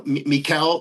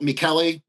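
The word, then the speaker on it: Michele: Um I'm trying to his his his name is spelled M I C H E L E like Michael in Italian which is um uh Mikuel Miklli Insani.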